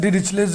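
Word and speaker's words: Dirichlet: इसी इंटीग्रल को बोलते हैं डिरिचलेज इंटीग्रल, DIRICHLLET, टी साइलेंट है, डिरिचलेज इंटीग्रल।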